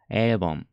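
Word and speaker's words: 일본: パッチ目このルワー舌を歯の裏上の歯の裏の天井に押し付けます avon エイボンで発音します日本語なるみたいに口を突き出していいいいルボンいる本で発音するんじゃなくて下をした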